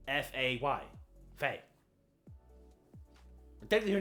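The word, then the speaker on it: Faye: __ ] to him Freya it's not Freya it's Frey how do you spell that I think it's the same way just SP the a at the end no it's Fay f a y Fay technically her name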